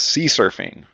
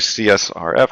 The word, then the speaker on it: CSRF: on the list is I guess the security folks will pronounce it as C surfing because that's fun to say it's actually csrf cross site request forgery so uh the